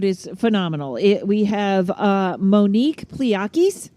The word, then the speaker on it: Pliakos: We have Monique Pliakos, right? Didn't I say it right? I got it? Close, Pliakos. Pliakos.